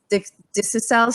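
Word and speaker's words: dickcissel: We saw hummingbirds there, bobolinks, dixicels.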